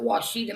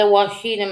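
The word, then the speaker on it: Ouachita: the Washidita Mountains, which is spelled O U A C I or C H I T A. The Oshida Mountains, not Washita, Oshida, I guess.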